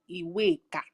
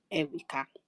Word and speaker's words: Iweka: It's an Igbo name that it's Iweka. But because of donations and, let me use the word, unnecessary trying to hide details, it's now pronounced as Eweka.